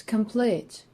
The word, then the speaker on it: complete: on the last syllable such as complete this word consists of two syllables but the stress falls on the last one that's why we actually